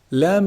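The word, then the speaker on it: لام: Lam is actually pronounced from the tip of the tongue when it hits the gum or the gums of the upper incisors.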